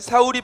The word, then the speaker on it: 사울: 베냐민 지파를 그들의 가족별로 기스의 아들 사울이 뽑혔으나 그를 찾아도 찾지 못한지라. 아멘. 이제 사울을 찾았는데 없어. 사울을 뽑혔는데 뭐야? 사울 어디 갔어?